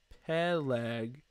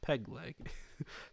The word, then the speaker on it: Peleg: pronounce this name Eber Peleg and Ryu I think I got that so it's right here by the way Eber pegleg he'll egg it's not pegleg he's not a pirate it's Peleg and ryu that's pretty